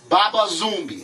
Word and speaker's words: Baba Zumi: Baba zoomi am I Baba zomie am I pronouncing it right that's correct man who tell me the